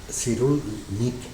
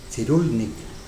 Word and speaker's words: Cyrulnik: Boris, si lo pronuncian en polaco, que parece ser que su apellido es polaco, es Cyrulnik. Cyrulnik. Si lo pronuncian en inglés, que también viene por ahí, es Cyrulnik.